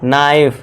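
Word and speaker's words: knife: अब देखिए यदि एन से पहले और वर्ड के शुरू में के हो तो के साइलेंट होगा। एन से पहले क्या है दोस्तों? के है तो यहां पे के हमारा साइलेंट होगा और इसे क्या पढ़ेंगे नाइफ यानी कि चाकू।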